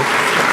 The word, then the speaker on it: Scaife: It's pronounced Scaife. my last name. Scaife.